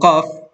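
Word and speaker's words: ق: Samantalang itong fa ay mas mababaw. Yung qaf mas malalim. At yung qaf, okay?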